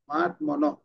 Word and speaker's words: মহাত্মানঃ: উদাহরণ মহাত্মানঃ, মহাত্মানঃ, মহাত্মনঃ, এটা হ উচ্চারণটা অর্ধেক হবে মহাত্মানঃ।